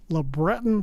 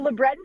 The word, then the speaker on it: LeBreton: It's in an area called LeBreton Flats. So tell us about where the heck is LeBreton Flats? First of all, you nailed the pronunciation. Well done, Don. Big points for you. So LeBreton Flats, if you have been to Ottawa, most